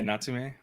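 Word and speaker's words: Natsume: Is that how you pronounce it? Yeah, Natsumi.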